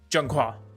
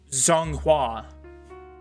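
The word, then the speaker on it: 中华: It's Zhenghua. But if you show it to someone, say how to say it, they would probably say Zhonghua because it has a Z.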